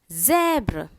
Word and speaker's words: zèbre: When you have one S or Z, S-U-Z, it's pronounced as Z. Fraise. F-R-A-I-S-E, fraise. Zèbre.